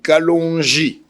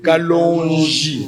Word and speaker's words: Kalonji: Non, c'est pas Kalonji. Chez nous il y a des prononciations. Kalonji.